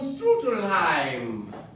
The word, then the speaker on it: Strudelheim: Otto von Strudelheim. I know that name can be quite confusing for some people. So say it right! Strudelheim!